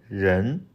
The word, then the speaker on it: 人: And us, 人人人, people, or the human being.